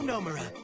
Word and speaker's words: Nomura: I'm Nomura. Accent on the no.